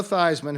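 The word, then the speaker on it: Theismann: Washington your quarterback who changed his name to rhyme rhyme with Heisman when he was in college Joe Theisman who is now a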